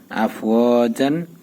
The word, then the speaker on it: أَفْوَاجًا: জিমালি, জিম দুই জবর জান, আফ ও জান।